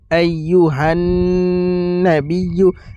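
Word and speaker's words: أيها النبي: السلام عليك আসসালামু আলাইকা আইয়ুহান নাবিয়্যু। আইয়ুহান হান এই জায়গায় গুণনা করবেন। আইয়ুহান নাবিয়্যু নাবিয়্যু নাবিয়্যু নাবিয়্যু এইভাবে উচ্চারণটা করবেন। নাবিয়্যু আইয়ুহান নাবিয়্যু আইয়ুহান নাবিয়্যু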